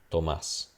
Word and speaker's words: Tomás: So it'll be, for example, Thomas. There's a T versus Tomás. There's no T. It's just Tomás, right? That's the main difference between the two.